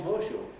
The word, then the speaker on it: horseshoe: this assimilation and a word like horseshoe which will become hosho and that esh that